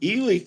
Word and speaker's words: Ely: the Nevada Northern Railway in elely Nevada they pronounced eely correctly wow and it it's really hilarious because